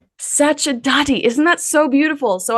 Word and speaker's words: Sacerdoti: it you do it tell me how to pronounce it correctly Sati Sati isn't that so beautiful so I was just